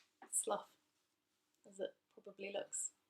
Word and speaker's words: Slough: Farnham Park is located in Slough, the town of Slough. Slough, as it probably looks like to Americans. But that is pronounced Slough.